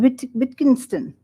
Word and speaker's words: Wittgenstein: He is a scholar on Wittgenstein. Have I pronounced it right?